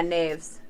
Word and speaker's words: knaves: that canes or knaves is the k silent let me see it's k-n-a-v-e-s oh yeah neves yep okay because we